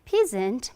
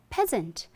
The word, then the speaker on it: peasant: It was not peasant, but peasant.